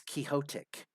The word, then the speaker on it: quixotic: that's my pet peeve I hate whenever I hear people pronouncing the word uh quixotic you know from like Don Quixote yeah you know I I'm always one who's like thinking it's quixotic you know because it's it's Don Quixote so yeah I'm from